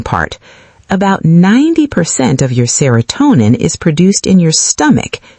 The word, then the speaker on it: serotonin: Serotonin. Serotonin. 5 syllables. Stress on toe.